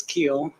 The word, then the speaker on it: Keel: Is That it would be Keel or cool. Cool? It's Keel. My children like to call it, say cool.